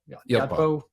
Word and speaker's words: Yotpo: Yotpo.